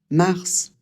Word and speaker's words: mars: Mars. Celui-là, c'est une exception. Normalement, en français, la dernière consonne d'un mot, c'est très rare qu'on la prononce. Ici le S, il va falloir le prononcer comme un serpent.